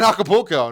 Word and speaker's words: Acapulco: We're in Acapulco. Nice. Did I pronounce that right?